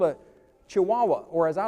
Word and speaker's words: Chihuahua: There's a dog called a Great Dane, and there's a dog called a Chihuahua, or as I like to say, Chihuahua. So I know how to spell it.